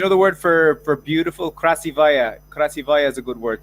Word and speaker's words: красивая: Krasivaya.